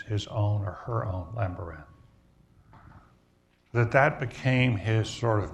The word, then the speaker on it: Lambaréné: That's what he pronounced it, Lambaréné.